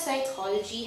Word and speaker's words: psychology: you in that way why does psychology have a silent p english because of english because the greek you know it comes from a greek language and greek allah